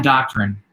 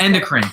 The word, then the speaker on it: endocrine: Endoctrine. Nope. That's what I said when I first endocrine. Endocrine, yes. I said indoctrine. Well, it looks like endocrine, but then anyway, it's endocrine.